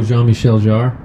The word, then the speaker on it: Jean-Michel Jarre: How do you say it? Jean-Michel Jarre? Oh, Jean-Michel Jarre?